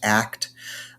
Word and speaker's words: ACT: acceptance and commitment therapy it's pronounced act uh but the idea